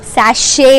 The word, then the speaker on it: sachet: the spelling is nothing Gilliam is in a pronunciation sachet a nun so I got a shampoo sachet